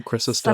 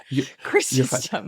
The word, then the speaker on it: Chrysostom: Everyone has different pronunciations. I do Chrysostom. Son of a bitch. But it's... Chrysostom.